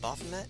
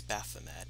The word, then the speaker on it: Baphomet: have on right now bothamet so magic and recover stuff i keep saying both of them apparently it's baphomet at least in this